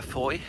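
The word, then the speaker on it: Fowey: So, uh this morning, we're going to go either to uh Foy Foy River. Um for those not familiar, you might think of it as Fouy because it's spelled F O W E Y.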